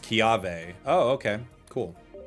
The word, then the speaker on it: Kiawe: It's pronounced Kiave. Oh, okay. Cool. Kiave.